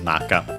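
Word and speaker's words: 中: other ones and yeah it's accented on the first syllable naka so uh inside or better literally uh the interior of the sea.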